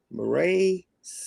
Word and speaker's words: Mireille Siné: way back from the first season episode four maray S did I prounounce right you got it I